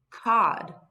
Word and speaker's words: cod: So O is going to make the short vowel sound. O is going to say ah. Ah, cod.